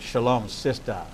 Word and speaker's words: Shalom Sistas: get it right and I got to get the emphasis on the last syllable because and you got to put a little shimmy and shake into it a little attitude attitude Shalom sisters so we're gonna take